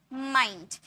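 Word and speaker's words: mind: जब एन डी या एल डी आए तो आई को आई में पढ़ते हैं। जैसे माइंड माइंड यहां पर देखिए आई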